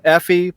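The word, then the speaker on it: エーフィ: How do you say it in Okay, Effie? it's Effie and Blackie.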